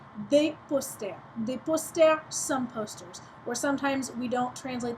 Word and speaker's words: posters: Boy a window de poster posters or some posters and you'll notice that there is an S there at the end of posters post there um you don't pronounce the final s um it's just there